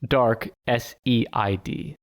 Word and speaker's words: Darkseid: But Darkseid is spelled dark, S-E-I-D. Oh. So it's like Darkseid.